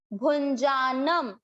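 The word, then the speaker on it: भुञ्जानम्: ध्यान देने की बात कि भू पे जो है इसका उच्चारण होगा न, नाक से न, और जो न के ऊपर बिंदी है वो होगा म। क्यों, क्योंकि ये पूरा शब्द होने के बाद बिंदी है, इसको अनुस्वार का उच्चारण होगा आधा म, और ये होगा न।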